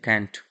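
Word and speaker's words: can't: कांट यूज कर लिया, हालांकि कैंट पढ़ते हैं। ठीक है ना, कैंट, कांट हम लोग इंडिया में बोलते हैं। ठीक है ना, ओरिजिनल प्रोनाउंसिएशन होता है कैंट।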